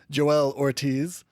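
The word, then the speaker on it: Joell Ortiz: And I don't know if that's how you pronounce his name. You know what? This is silly. We have internet's in our pocket. We're going to look this up. We'll be right back. BRB. Okay, we're back. And we are a little bit smarter than we were five seconds ago. Joe L. Ortiz.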